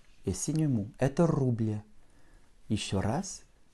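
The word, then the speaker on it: рубль: Le signe mou, c'est presque un petit i que tu vas prononcer à la fin pour que ton L soit vraiment mou. Rouble. Puisqu'en fait, ça t'indique que le L précédent est mou.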